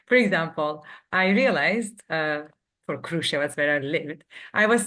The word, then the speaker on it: Kruševac: actually, the Kruševac, like, ooh, is the Kruševac. stressed. Yes, All first right.